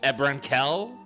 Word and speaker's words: Ebron Kell: I say his name incorrectly, but it's Ebron Kell.